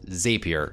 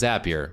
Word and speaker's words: Zapier: that it's not pronounced zapier it's pronounced zapier which apparently rhymes with happier which is not what